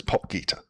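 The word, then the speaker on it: Potgieter: It's not 100% correct, because the way he says it, there's a in it, but it's Podgater. Podgater.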